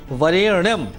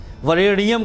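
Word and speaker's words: वरेण्यम्: धीमहि धियो योन प्रचोदयात ध्यान देना है वरेणम दो चार जगह उच्चारण पर विशेष गलतियां हो जाती है रेनियम कह देते हैं लोग गायत्री मंत्र का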